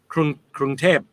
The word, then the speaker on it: Krung Thep: How would you pronounce that, Simon? Krung Thep? Krung Thep, yeah.